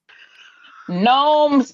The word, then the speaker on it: Gnomes: The G is silent. Gnomes, Gomes, Romes.